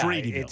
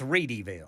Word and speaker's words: Readyville: Which is spelled Hopefully. like Readyville, but not. It's Reedyville. It's Reedyville.